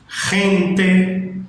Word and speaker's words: gente: Repare o primeiro detalhe aí, que a gente não faz igual no português como A, B, C, D, E.